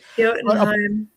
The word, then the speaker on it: Jotunheim: But, I did kind of enjoy seeing Loki rendered as an actual frost giant, as the heir to Jotunheim, if I've pronounced that correctly. Jotunheim.